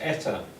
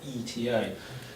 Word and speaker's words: ETA: as a word but this in English is always pronounced ETA so it's pronounced like a word not ETA this is what it